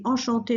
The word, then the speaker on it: enchanté: Here, when you say enchanté, if it's a woman saying it, you add an extra E. When you're writing it, pronunciation-wise, it's exactly the same. There's no change.